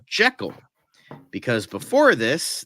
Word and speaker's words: Jekyll: Jekyll, because before this, the only other sound movie pronounced it the correct way that Robert Louis Stevenson wanted it to be pronounced, because it's supposed to be pronounced Jekyll. And the 1931 movie was the only one that got it right, but this was the first one to say Name Jekyll. to say Jekyll, not Jekyll.